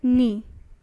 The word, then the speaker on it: knee: your first word is knee k n double e and this k is silent because in the pronunciation only knee is coming isn't it but the